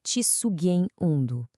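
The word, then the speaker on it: katsugen undō: A pronúncia é um pouco diferente, é cissugen undo.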